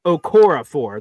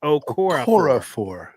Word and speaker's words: Okorafor: And then if it is not that, and just he ends up beating Okafor or whatever his name, I could never pronounce his name right.